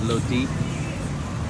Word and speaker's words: roti: This is called roti, or Thai people pronounce it loti, and it's basically like a Thai pancake.